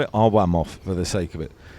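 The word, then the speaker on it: Arłamów: o w RW of it could be ar vof it depends if you say VJ or vuj so we're in we'll call it arov for the sake of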